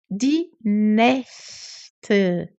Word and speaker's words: Nächte: Tem aqui um A com trema. Die Nächte. E um E no final. Die Nächte. Die Nacht. Die Nächte.